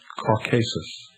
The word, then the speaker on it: Caucasus: chained and placed upon the brow of mount caucasus or some pronounce it caucasus there to remain with a vulture gnawing at